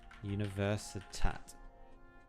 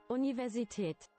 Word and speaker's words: Universität: Universität. Universität. Oh, okay. No, it's actually pronounced that way.